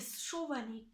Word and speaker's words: Schovanec: En vrai, c'est dur à dire parce que c'est Chovanec. Ah, Et ça Chovanec.